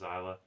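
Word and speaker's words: Xillia: of zyla or and I know it's spelled with an X but it's pronounced zyla Tales of zyla 2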